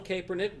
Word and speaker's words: Kaepernick: Does Nike want to own this social justice narrative that Colin Kaepernick brings to this?